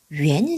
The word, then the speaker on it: 元: 100元 200元이렇게 발음한다는 거. 같은 화폐 단위지만 말을 할 때 뭘 쓴다? 콰이를 쓴다. 글을 쓸 때는 위엔을 쓴다.